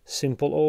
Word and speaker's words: Smpl: really on the sides simple audio smpl is how it's spelt now this is where